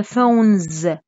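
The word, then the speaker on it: phones: فون يس في الان اس، قراي مليح فون، انطقيها لي كامله. فونس فونس ولا فونز؟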